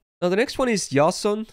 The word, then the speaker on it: Jason: the next one is yason again that's just how I pronounce it if you want to say Jason that's fine but you know I try to do the Greek one and this arguably would